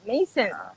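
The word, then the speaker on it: Maison: Kung i-pronounce mo parang M-E-Y-S-E-N. M-E-Y-S-E-N. Mason.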